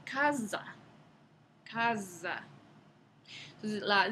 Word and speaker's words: casa: Entonces, el castellano medieval tenía el fonema sonoro Z, en palabras como la palabra que hoy en día pronunciamos casa. En la época medieval se pronunciaba casa.